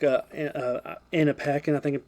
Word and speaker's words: Paquin: My only gripes about the movie that we didn't get to touch on is the werewolves, like Anna Paquin, I think it pronounced her Anna name.